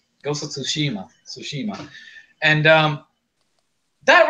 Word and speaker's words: Tsushima: read a lot Japanese you don't pronounce the T Tsushima go Tsushima soshi mom and that